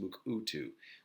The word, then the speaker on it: Mukurtu: In particular, we are introduced to Mukutu, spelled Mukurtu, but pronounced Mukutu, which is a grassroots